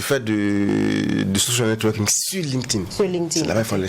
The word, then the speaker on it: LinkedIn: LinkedIn. C'est L-I-N-K. Donc, link comme to link. Et D, donc tout est collé I-N. Donc LinkedIn.